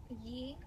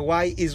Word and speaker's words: yi: E. So now, why you say E instead of Yi? Why you corrected yourself? The Y is red, so that means like don't pronounce it.